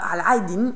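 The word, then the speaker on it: علاء الدين: Et si vous êtes lancé, Allez essayer de découvrir aussi la signification de Aladdin, qui se prononce en arabe Al-Aydin, qui a donc une autre signification cachée, sous son nom lui aussi.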